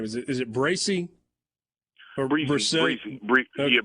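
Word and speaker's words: Bresee: As you've looked a little bit at, and I'm going to mispronounce his last name. Is it Bracy? Or Breezy. Yeah, Breezy.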